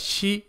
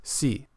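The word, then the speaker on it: し: Notice that shi is pronounced with an H sound instead of just si.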